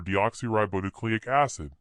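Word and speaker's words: deoxyribonucleic acid: dad DNA stands for deoxy ribonucleic acid it's a long word but easy to pronounce if you divide it into smaller pieces you can say it like this deoxy ribo nucleic acid I prefer DNA it's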